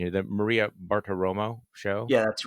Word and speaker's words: Bartiromo: this the president calls into and correct my pronunciation here that maria bartoromo show yeah that's right the money honey wow